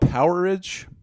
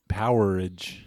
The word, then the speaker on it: Powerage: That's AC/DC's Gone Shooting from, I believe it's called Powerage. Powerage. It's spelled like Power Age, one word. That's got to be Powerage, right? Kind of like amperage.